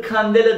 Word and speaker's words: candela: Birimi candela diye yazılır, kandela diye okunur.